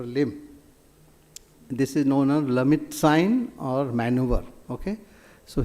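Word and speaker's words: Lhermitte: This is known as Lamit sign or maneuver. Okay. So here what sometimes this is pronounced in a different way. The best is Lamit sign, as the people say. Pronunciation is little different, and sometimes you have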